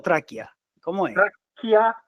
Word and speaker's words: Tracchia: Gustavo TR TR o traquia cómo es TR la CCH se pronuncia como K no me expliques No